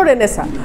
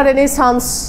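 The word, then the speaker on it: Renaissance: ছাত্র যেকোনো চাকরিতে গেছেন আপনাকে জিজ্ঞেস করতে পারে রেনেসা বানান করেন for example R ই এন I double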